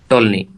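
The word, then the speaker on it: Ptolemy: था Claudius Claudius Claudius टोल्नी, ठीक है, क्लाउडियस टोल्नी। पी साइलेंट है, आप अपने हिसाब से प्रोनाउंशिएट कर लीजिएगा।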